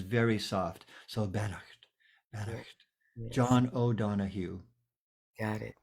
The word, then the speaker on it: Beannacht: Pronounced Bannocked. Bannocked.